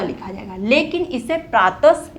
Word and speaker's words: प्रातः: पीछे विसर्ग आ गया, और विसर्ग का उच्चारण कैसे हो रहा है, जब हम बोल रहे हैं तो ह का उच्चारण हो रहा है, प्रातः।